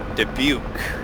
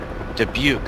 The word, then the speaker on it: Dubuque: you say the name of that ship danesque dubuque dubuque that's right thank you you're welcome sister ship dubuque warrior flight 10 miles to the east inbound for full stops worry flight this is dubuque take up a starboard delta one thousand feet